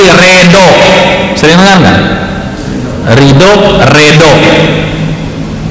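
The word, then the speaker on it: ridla: Ridho, redo. Nah, redo itu tulisannya R-E-D-L-A. Redla. Orang dulu nulis huruf do itu D-L.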